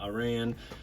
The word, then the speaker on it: Aran: picture of Samus Iran I always pronounce her name Iran uh some people say Samus Aaron but before I ever